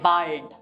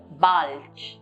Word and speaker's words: bald: Here too, if you notice, the T is pronounced as T. We don't say bald. We say bis bald.